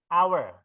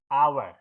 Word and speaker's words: hour: toh berlangsung Dina ke anak Berikutnya ini bacanya gimana ini aw ya hour Jadi pakai huruf Ayah hour nah power itu suara awalnya konsonan atau sofa